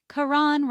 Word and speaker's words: Karan: the first syllables Donan Don Karan rhymes with Karen coach coach straightforward pronunciation